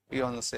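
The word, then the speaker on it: fiancé: फियोंसे और फियांसे बिल्कुल सही। जो लड़का होता है उसकी स्पेलिंग क्या होगी फियोंसे में? सुनो पहले प्रोनाउंसिएशन करना सीखो। एक होता है फियांसे, एक होता है फियोंसी। फियांसे, फियोंसी।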